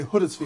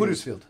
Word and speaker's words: Huddersfield: Americans would usually say like Huddersfield. We say Huddersfield. Huddersfield. We say Huddersfield like that.